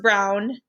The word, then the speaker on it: Brown: And then her last name, instead of doing a rhyming trick, she just said it's pronounced brown, just like the color brown.